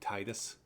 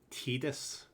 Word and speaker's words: Tidus: Final Fantasy X is Tidus. Because I guess that's because that's the way they pronounce I's in Japan. You know, E.